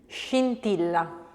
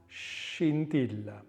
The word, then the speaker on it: scintilla: Scintilla. Scintilla. Scienza. Anything that has that sh sound in it.